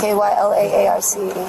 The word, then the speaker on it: Kyla Arce: Spell it for me. K-Y-L-A-A-R-C-E.